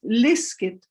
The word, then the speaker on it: liskit: But whatever vowel it is, the stress is on the prefix, not on the root of the verb. So in this case, my example is liskit, liskit.